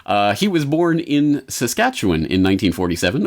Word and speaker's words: Saskatchewan: he was born in Saskatchewan in 1947 or as the Americans insist on pronouncing it Saskatchewan he uh grew up